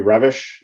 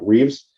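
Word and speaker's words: Reves: Peace um by Emory revish is how it's pronounced although in English it looks like Reeves uh which talked about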